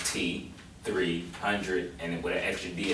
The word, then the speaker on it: T3hundredd: exactly what you're doing well my name y'all said is pronounced t300 and it would actually